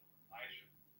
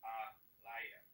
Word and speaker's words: Elijah: But the word they call it Elijah, it's not pronounced like it's pronounced Aliyah.